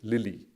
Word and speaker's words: LILY: Very long name, but they ended up with an acronym with 4 letters, so I can pronounce it Lily.